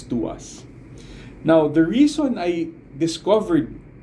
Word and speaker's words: TWS: that I'm talking about is twws or it's pronounced as to us now the reason I